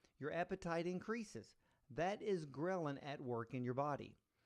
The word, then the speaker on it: ghrelin: way well ghrelin now ghrelin is spelled g h r e li n ghrelin this is the